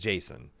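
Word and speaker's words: Jacen: But I also think they're undercutting themselves with Sabine and Jason. Or Jason? It's Jason. I always pronounced it Jakin when I was reading it growing up, but I guess it's Jason.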